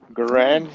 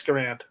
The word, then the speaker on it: Garand: Garand, you mean? Yes, Garand. Well, that's not how he pronounced his name, but okay. Like Grand. That's how I know it.